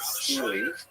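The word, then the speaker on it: stele: And when he gets to the north, one fascinating thing that he records in this big stone obelis called a steely pronounced steel left behind a record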